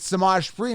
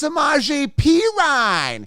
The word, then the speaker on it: Samaje Perine: sudden I find out, about a year after pronouncing it Samaj Perine, which is how it sounds, Sameperine, Samaj Perine, and then they say, oh, that's not how you pronounce his name. It's Samaje Perine.